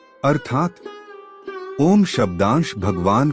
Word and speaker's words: ओम: इसका शुद्ध उच्चारण खुले मुख के साथ आ, ओष्ठों को सिकोड़कर उ तथा ओष्ठों को पीछे लाकर म ध्वनि निकालने से होता है।